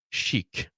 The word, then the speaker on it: chic: And I thought this was going to come here, but someone says I think it's pronounced chic. Yes. Not chick.